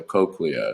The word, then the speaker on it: cochlea: The inner ear converts vibrations to nerve signals that travel to the brain, okay, which would consist of the cochlea is how you would pronounce that.